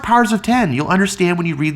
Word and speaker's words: Powers of X: that's a good question it's pronounced powers of 10 you'll understand when you